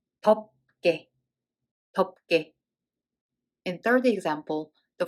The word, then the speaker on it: 덥게: So when we read it as 덥, and then it's followed by g sound of consonant. So this is 덥게, 덥게.